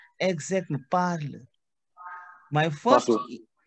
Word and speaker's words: parle: My first E, exact parle. My first E, that PARLE, that belongs to I, which is je parle. Je parle. Say clear. Why didn't you pronounce the E? We don't pronounce the E.